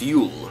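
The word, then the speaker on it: jul: used and the label cells during ju l pronounced you'll Swedish for Christmas children and adults alike in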